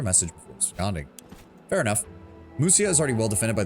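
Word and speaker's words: Mysia: certain route and attack Muisia. Uh, Musia, right? They pronounce it with a U.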